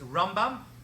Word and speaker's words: Rambam: rambam now the ramban hear the pronunciation difference it's rambam and ramban that's how you hear the difference when you hear people